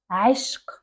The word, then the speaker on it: عشق: The second word is عشق. عشق. I know it's a little bit hard for you.